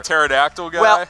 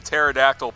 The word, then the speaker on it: pterodactyl: I'm sticking with the pterodactyl P is silent I'm like wait on the pterodactyl I know how to